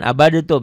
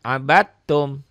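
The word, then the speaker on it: عَبَدْتُّمْ: antumidun W Ma abadum jangan abadtum ya diidgamkan abadum wala antumiduna Ma a'bud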